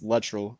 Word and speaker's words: Luttrell: his last name wrong i was saying latrell he said it's literal when he said my